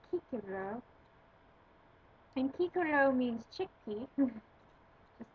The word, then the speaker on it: Cicero: he died 43 bc cicero and latin as we know the seas are pronounced hard so in latin that would be kikibro and kikono means chickpea